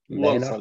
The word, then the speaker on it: Walsall: He works at, I'm not sure how to say it, Walsall? Walsall, yes.